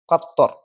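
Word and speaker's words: قطر: മത്തോർ മത്തോർ heavy letter ആണ് മത്തോർ മത്തോർ അടുത്തതാണ് ഖത്തർ ഖത്തർ ഖത്തർ heavy letter ആണ് ഖത്തർ ഓക്കേ ഖത്തർ ഖത്തോർ ഖത്തർ എന്ന് വെച്ചാൽ രാജ്യമാണ് ഖത്തോർ എന്ന് വെച്ചാൽ എന്താണ് ട്രെയിൻആണ് ഖത്തോർ കത്തോർ എന്താ കത്തോർ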